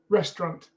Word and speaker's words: restaurant: on the first um restaurant is that two syllables or three depends how you pronounce it right the way i pronounced it it was two restaurant um so you got